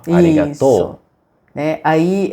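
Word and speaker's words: ありがとう: né sim serig arigatou então tem uma elevação no tono final arigatou isso né Aí é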